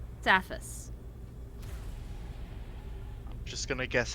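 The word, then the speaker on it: Safus: Saphus. Just gonna guess how to spell that unless you tell me. S-A-F-U-S. S-A-F-U-S. Okay, I guessed wrong. Sassafras. Alright, so I heard Saphus Saphus.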